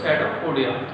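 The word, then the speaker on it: pseudopodia: इसमें P silent रहता है, इसको बोलते हैं सेडोपोडिया।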